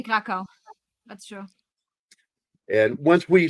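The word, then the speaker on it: Kraków: Krakow. When you see a W, you pronounce it as V. It's an American thing. It's like in German. Yeah, in German they say Krakow.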